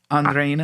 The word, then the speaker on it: Andrina: How do you say it? Andrina. Andrina.